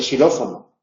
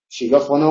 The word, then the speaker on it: xilófono: vocal que le precede por eso cuando eh aparece en posición inicial de palabra no se pronuncia como dos tram caso de xilófono xilófono o xenofobia amente se pronuncia como una s pero no se pronuncia xenofobia porque la k no puede formar sílaba ella sola y ante consonante y